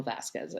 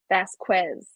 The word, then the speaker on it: Vasquez: lawyer, Elaine, constantly says Vasquez. Oh, yeah. I'm like, can you please pronounce it correctly? I Can just you please say Vasquez instead of Vasquez?